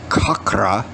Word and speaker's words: chakra: about medical yoga therapy the chakras were actually it's pronounced kakra system and the endocrine